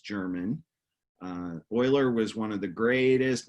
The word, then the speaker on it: Euler: this word it looks like Euler but it's pronounced Euler it's German oiler was one of the greatest mathematicians of I